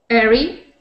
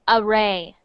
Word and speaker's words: array: Airy. That is actually pronounced array. Array.